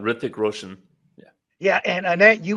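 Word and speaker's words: Hrithik Roshan: say his name hi hick Roshan Ric the H is silent Ric Roan yeah yeah and Anette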